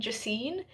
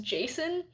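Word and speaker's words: Jacin: c i n and in my head I was saying Ji apparently in the audio book it's just Jason I don't know which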